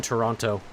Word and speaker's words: Toronto: It It's like pronouncing the second T in Toronto. You don't do it.